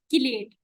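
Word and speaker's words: chelate: आप चिलेट भी पढ़ते हो इसको अक्सर, लेकिन हमारे सर कहते थे इसका सही प्रोनाउंसिएशन जो बाहर ममालिक में हम लोग करते हैं वो है किलेट, तो ट्राई करनी है। किलेट कहना आते चिलेट नहीं होता, इट्स किलेशन या किलेट।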